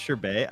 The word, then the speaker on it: sherbet: of element it's sure Bay is that how it's pronounced sherbet I honestly always put in the second R the main difference between